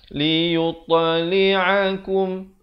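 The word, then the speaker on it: لِيُطْلِعَكُمْ: Jangan pula kita baca liyutta. Yutta. Itu tak betul. Yang betulnya liyuttali'akum.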